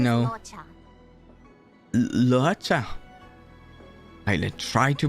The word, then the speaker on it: Luocha: Luocha. I'll try to pronounce that right.